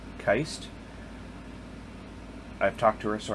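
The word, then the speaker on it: Kiste: In at number 7, Gwendoline Heist, and it is pronounced Keist.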